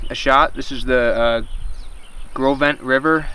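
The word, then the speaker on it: Gros Ventre: This is the Grovent River. It's like Gross Venture, it looks like if you spell it out, but see if I can catch a trout.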